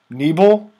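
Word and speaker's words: niebl: Neeble?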